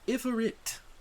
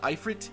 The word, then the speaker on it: Ifrit: I know it could be also what is it? Ifrit? Ifrite? I know a lot of people argue about this pronunciation. Ifrit, I believe is how it's supposed to be saying.